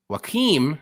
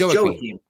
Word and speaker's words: Joaquim: Joaquim, not John. It's Joaquim Silva. It's Joaquim. Why I say Joaquim? Whatever. I don't know. Joaquim. It's Portuguese, so you got to pronounce the J.